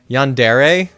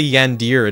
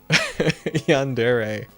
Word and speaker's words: yandere: Yandere? Is that how you pronounce it? I always want to say Yandir in my head, but I feel like that's wrong.